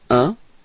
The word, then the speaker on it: un: So, un. Repeat. Un. Okay? It's quite tricky, this one, because it's nasal, so it's coming in your nose, okay?